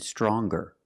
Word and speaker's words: stronger: Now what happens when we change young and strong to younger and stronger?